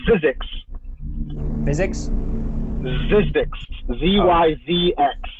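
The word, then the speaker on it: Zyzx: It's pronounced physics.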